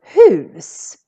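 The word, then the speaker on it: hus: going to start with the word whose whose is how we say house in swedish and how many consonants do we have here coming after the u one just one so that's why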